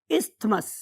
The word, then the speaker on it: isthmus: हूं मैं कि आपने थ को भी याद रखें ताकि आपको टीएच याद रहे, अदरवाइज इट इज इस्थमस। हम उसमें बहुत ज्यादा जोर थे पे नहीं लगा रहे होते, तो इस्थमस इज a true pronunciation.